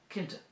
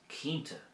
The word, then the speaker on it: Cinnte: word for sure or certain which is Cinnte Cinnte now you may hear this pronounced Cínnte as well, which is perfectly fine, but I prefer Cinnte An bhfuil tú cinnte - are you sure?